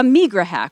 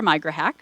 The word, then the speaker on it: Migrahack: also continue to have a Migrahack, or a Migrahack, you can pronounce it either way.